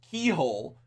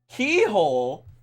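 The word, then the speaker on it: Cichol: Citrol is actually pronounced keyhole. Keyhole?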